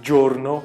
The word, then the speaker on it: giorno: Você fala giorno porque tem o i de novo.